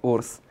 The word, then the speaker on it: WRS: Хитмейкърът Урс.